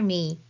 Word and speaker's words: め: Repeat after me.